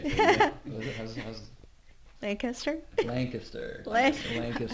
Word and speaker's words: Lancaster: Lancaster. Oh, that's nice. I like how you say it. How's Lancaster?